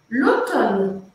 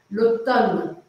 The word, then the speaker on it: l'automne: L'automne, outono. L'automne se escreve mn, só com um M só, vamos arrumar esse slide. L'automne. MNE. É meio estranho, mas é assim mesmo, l'automne.